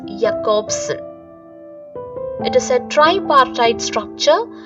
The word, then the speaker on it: Jakobson: linguist and literary theorist the pronunciation is jacobsen it is a tripartite